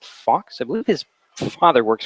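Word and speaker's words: Fuchs: It's spelled F-U-C-H, pronounced Fox.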